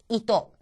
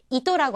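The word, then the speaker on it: 糸: 토라고 하는 것이 첫음이 아니기 때문에 또처럼 들리죠? 이또. 이또라고 하는 것은 실입니다.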